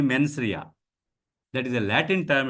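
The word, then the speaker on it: mens rea: due respect to all some of my friends call this as menia it is not not men sir M NS R E A menia so don't spell it as menia it is only menri that is a Latin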